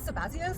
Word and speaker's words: Sabazius: the baby Dionysus, or Zabazias, or whatever. Zabazias? The Sabazias. Which is that? Sabazias, or... Oh, I pronounce it Sabazius. Sabazius. We'll go with Sabazius.